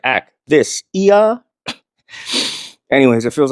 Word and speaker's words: akathisia: is something called aia, which I'm probably not saying it right. I'm saying it more the way I remember how to spell it, which is ak t h i s i a. So it's like a thisa.